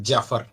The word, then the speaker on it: Jaffer: me the correct pronunciation is it Jaffer or Jaffer like uh what should be the correct pronunciation of your name yeah anything is appropriate it's Jaffer yeah yeah that means